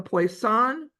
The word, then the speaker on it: Poisson: Then we're going to look at the Poisson distribution. And does anyone speak French? I always get his name, I'm sure, butchered. He's a French mathematician. Poisson, I think is the way it's pronounced.